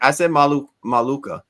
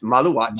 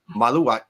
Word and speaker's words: Maluach: Listen, I said Maluka, but it's Maluach, right? Maluach. Well, I think that No. I don't think it's watch. I think it's walk.